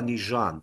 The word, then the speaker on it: Nugent: questo è Laval Nugent qui si pronuncia localmente il cognome nižan, è venuto da voi